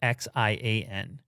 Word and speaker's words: Xi'an: the promotion was in how would you pronounce x i a n xi'an yeah did i nail